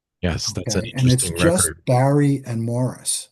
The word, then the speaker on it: Maurice: Yes, that's just Barry and Morris. I know it's spelled Maurice, but he pronounced it Morris.